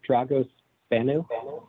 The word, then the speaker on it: Dragos Bano: comment Mr Vincent um I think I'm pronouncing the name right dragos Bano yes you did thank you very much